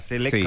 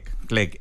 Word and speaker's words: CLEC: Clec, digamos, esta est cómo se pronuncia, CELEC o Clec, ya Clec es en la la sigla